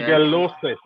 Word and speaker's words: Shigellosis: Shigellosis. Right. Right. Shigellosis. All right. So with Shigella, you take off the A and you add on OSIS. Shigellosis. Shigellosis. Right. Right. So Shigella is the organism. Shigellosis is the disease.